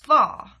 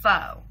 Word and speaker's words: faux: pronouncing the word fall, and really it's faux. In case you guys watched that video and was like, I wonder if she's saying it right. I wasn't. So, there you go. Now you know how to say the word faux, because it's faux, not fall.